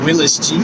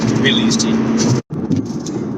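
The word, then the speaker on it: Willys: I know the correct pronunciation of that car I saw is Willie's Jeep, but that doesn't sound right. Willis. It's a Willie's. Willie's Jeep.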